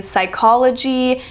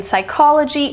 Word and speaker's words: psychology: broad examples we have the initial PS as in Psychology and pseudoscience those are silent the p in Psychology and the p in